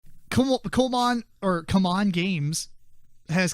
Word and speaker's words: CMON: chasing I know and they want you to pronounce it come on not see mine it's come on come